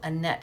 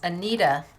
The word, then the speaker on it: Anita: I think we pronounce it Annette here in the States. Anita. Annette is what I think they pronounce it over in Denmark.